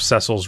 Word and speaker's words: Cecil: calling cile oh oh no I call him Cil Cil is how it's supposed to be pronounced like they they say that in desidia